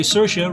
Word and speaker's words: Saoirse: Happy birthday, Saoirse. Rhymes with inertia, Ronan.